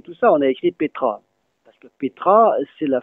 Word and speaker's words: petra: On peut dire Petra, qui est standard actuellement, mais il y en a qui disent Pta, Para, Pte, etc. On n'a pas écrit tout ça, on a écrit Petra.